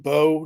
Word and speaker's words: Bow: for me please well my last name is actually pronounced Bo Not Bow but a lot of